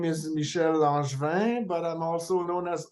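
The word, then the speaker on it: Michel Langevin: I'm so sorry oh yeah my name is Michelle langevin but I'm also known as aware yeah yeah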